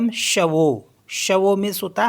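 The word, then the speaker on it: chevaux: एक्स तो यह पढ इसको पढ़ते हैं हम शवो शवो मीस होता है हॉर्सेज नेक्स्ट वर्ड है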